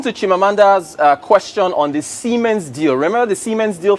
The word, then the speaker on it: Siemens: Is it pronounced Siemens or Siemens? Siemens.